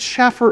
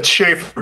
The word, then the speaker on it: Schaefer: By the way, first of all, is it Schaffer or Schaefer? It's Schaefer, but okay. You know, call me Shane. You're saying, have you ever met named Schaffer? Stop interrupting. You're saying it wrong.